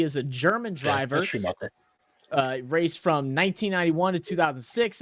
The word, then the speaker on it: Schumacher: I'm hoping I'm pronouncing that right. He is a German driver. Yeah, Schumacher.